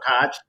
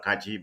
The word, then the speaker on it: Kaj: Kaj. I don't know why, I've been mispronouncing your name, by calling you Dr. Kachi, but I got it right now.